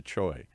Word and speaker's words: Choi: know how to say your last name choi choi how do we get choi out of three letters or c-u-i how does that turn into choi that's a great question actually paul um so